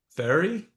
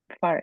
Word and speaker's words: Fari: Is it Fari or Ferry? Fari. You say it right, because that's not my real name. Okay, very good. It's a short for my name. My full name is Farida, but Fari and Ferry, whatever you say, I know you're calling me, Yeah, good.